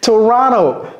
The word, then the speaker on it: Toronto: to go to Toronto ouis Toronto Toronto ne prononcez pas ce thé ok donc c'est très